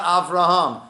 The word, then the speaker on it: Avraham: Rome of Rumi right so you don't hear the hey and people made a mistake to think oh his name is actually I've wronged but not Avraham that's a mistake the